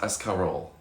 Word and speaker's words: escarole: And Becky says it's pronounced escarole. Escarole. Escarole. Escarole. Escarole. That's fancy. That's fancy for It lettuce. sounds like escargot.